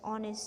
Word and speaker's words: honest: vowel o on is the lid silent we pronounce honest as honest same goes for an hour hour also same